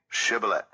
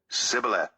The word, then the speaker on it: shibboleth: they said all right say shibboleth if he said sibila because he could not pronounce the word correctly they seized him and